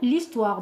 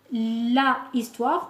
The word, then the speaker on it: histoire: l' histoire qu'un gourou l'histoire donc on ne dit pas là histoire qu'on dit l'histoire donc on fait comme si ce h n'existait pas d'accord on appelle ça